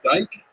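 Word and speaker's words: Dyck: with an i uh where I'm from where I'm born uh they pronounce it Dyke but here they pronounce a dick so I like to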